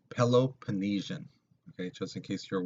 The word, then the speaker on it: Peloponnesian: It's pronounced Peloponnesian, okay, just in case you're wondering.